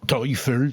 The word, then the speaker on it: Teufel: monde de l'audio, qui s'appelle Teufel, en allemand Teufel, s'il vous plaît. Mais c'est pas Tefal, hein.